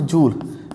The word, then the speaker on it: joule: इसकी ऐसा यूनिट क्या रहेगी इलेक्ट्रिकल एनर्जी की, इलेक्ट्रिकल एनर्जी कैसे यूनिट रहती है, दिस इज जूल और यू can pronounce it जूल. जूल इज the energy of SI unit of energy.